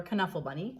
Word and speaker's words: Knuffle Bunny: uh to you if you've ever read uh knuffle bunny or canuffle bunny as it's pronounced and moe was born in illinois on